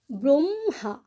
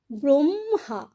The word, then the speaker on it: ব্রহ্মা: আমরা উচ্চারণ কি করছি ব্রহ্মা ব্রহ্মা আগে ম বলছি তারপর পরে আমরা হ বলছি এরকম আরেকটি উচ্চারণ আল